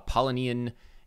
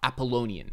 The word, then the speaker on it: Apollonian: his theory on a Polynesian and Dionysian thought or Apollonian I've been saying it wrong this whole time Apollonian slash Dionysian thought